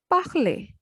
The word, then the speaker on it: parler: For example, when ER, E is a vowel, when E vowel comes, that has sound A. So the word will be read as parler, to speak.